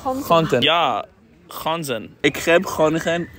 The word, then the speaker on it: Groningen: Groningen.